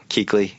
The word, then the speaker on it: Kuechly: Kuechly. Exactly. rookie defensive I'll pronounce and spell his name.